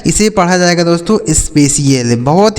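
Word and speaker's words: spatial: यह लिखा आपका initial S पी ए टी आई एल तो यह लिखा है देखिए एस से हो गया आधा 100 पी ए से हो गया पे ठीक है और टी आई एल से क्या हो जाएगा सी एल यह लिखा गया आपका स्पेशियल ठीक है इसे पढ़ा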